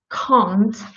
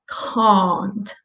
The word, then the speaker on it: can't: an f word and this is what happens when you pronounce can't without this sound without the long you pronounce it with a short ah so please avoid this mistake so your point is to pronounce the clear op sound and to make sure you're doing it right uh you may try and pronate this this uh ah sound so try to pronounce it like can't a bit uh and at first